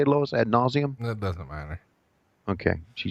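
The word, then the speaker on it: ad nauseam: Ad nauseum?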